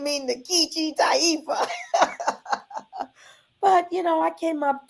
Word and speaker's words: Nkechi: So I started calling myself Nikichi. Little did I know until I went to college years later, HBCU, Howard University. Hey, that I was not pronouncing it correctly. It really would be Nkechi. It's a name from West Africa, Nigeria, and really should be Nkechi.